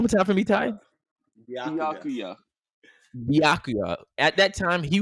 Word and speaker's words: Byakuya: Byakuya. Oh, Byakuya. Man, Byakuya. Byakugo. Say it one more time for me, Ty. Byakuya.